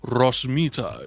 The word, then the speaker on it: Ros Mita: companions aboard the dragonfly i'm lux mita i'm sorry what ros mita you roll your eyes like the professor yes i i should like to make sure i'm pronouncing this correctly ross mita is how you say yes yes uh what